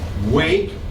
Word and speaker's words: weight: so at the doctor's office they take your weight weight and your height height weight is